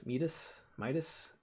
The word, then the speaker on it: Midas: Someone in chat, I should know how to pronounce this. Mythical fetus, Midas, right?